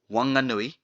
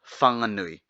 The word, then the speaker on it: Whanganui: Therefore it is Wanganui, not Whanganui. But if you go out from that region, it will be called Whanganui. Wanga or Whanga, again it means harbour, like Whangarei. Nui means big or great. Therefore, Wanganui is referred to as Great Harbour. Just remember, F sound doesn't exist in western region of North Island. So change the F sound to W sound.